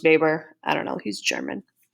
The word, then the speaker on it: Weber: of alfred weber so his last name looks like weber it's pronounced baber i don't know he's